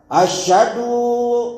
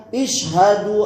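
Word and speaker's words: أشهد: Sebagian muazzin mengucapkan isyhadu alla ilaha. Jadi dibacanya ish. Mungkin di sini kita enggak ini ya. Harusnya ash. Harusnya fathah, bukan bukan kasr.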